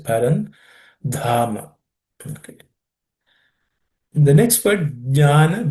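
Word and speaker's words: परन्धाम: The dha has to be aspirated. It's the fourth letter in the class of consonants. So pay attention. Parandhama.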